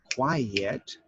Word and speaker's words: quiet: before i say goodbye if i say quite it has one syllable that's different from quiet which has two syllables and if i only